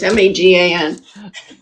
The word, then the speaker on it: Megan: Megan Kelly, but it's spelled the normal way, not Megyn. It's Magan.